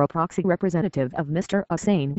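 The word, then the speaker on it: Assange: proxy representative of Mr assin he pronounced it with three syllables and Schmidt as the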